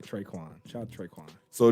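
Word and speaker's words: Tre'Quan: Traycon Smith. Traycon Smith. Traycon Smith. Not only y'all got the same hands, you can't pronounce his name right. Traquan.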